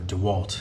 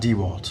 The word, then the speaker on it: DeWalt: in the front obviously I like how you pronounced it proper DeWalt not DeWalt oh boy I love that that makes me